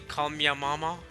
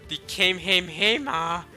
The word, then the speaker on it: Kamehameha: Oh, speaking of Kamehameha, you guys see how people in Fortnite were mispronouncing the Kamehameha? One of them went literally call me a mama, bro. Oh my god, the Kamehameha, the Kamehameha.